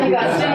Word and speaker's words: Augustine: The Augustine way, celibacy formation program.